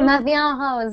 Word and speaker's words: Ma vie en rose: Ma vie en rose.